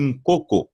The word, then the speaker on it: nkoko: On le prononce aussi nkoko avec un N nasal devant le premier K.